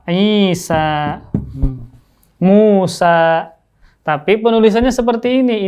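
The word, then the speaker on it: عيسى: Nah, sama seperti Isa. Dibacanya panjang loh. Isa.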